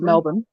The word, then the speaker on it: Melbourne: to Americans Americans in Melbourne which is actually pronounced Melbourne Melbourne um I went to